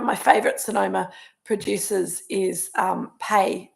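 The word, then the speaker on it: Peay: One of my favourite Sonoma producers is Pei. It's spelled P-E-A-Y, Pei Wines, and they make beautiful wine.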